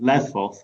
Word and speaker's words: Lesvos: the moira camp in lesvos or lesbos depending on how you pronounce it there's an outbreak